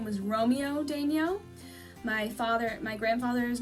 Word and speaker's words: Daigneault: I believe the French pronunciation is a little more similar to Daigneault, but my family's always pronounced it Daigneault, so that's how I pronounce it. It's a lot of silent letters in there, and that's usually the telltale sign that it is a French name.